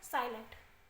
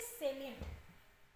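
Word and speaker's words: salient: features S given below it इज नॉट साइलेंट इट इज सेलिट सेलिट कहते हैं बेटा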